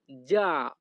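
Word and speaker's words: già: এই বাক্যের ইতালিয়ান ভাষা হবে লো সাপেভো যা। লো সাপেভো যা। এখানে জি আই এ এর উচ্চারণ হবে যা।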